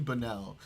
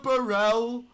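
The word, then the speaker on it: Bonnell: entire thing Norm Finkelstein keeps like mispronouncing Destiny's last name. So his name is Stephen Bennell and he keeps going mi Mr. Mi Mr. Mr. Burell. Mr. Barel. Oh no. Mr. Benelli. It's so funny.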